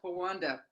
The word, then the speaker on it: Pawanda: That's how you say my name, Pawanda. Wanda with a Po in front of it.